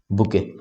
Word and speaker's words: bouquet: बुके की spelling ध्यान रखना, एग्जाम में कई बार आती है, BOUQUET, बुके, ठीक है।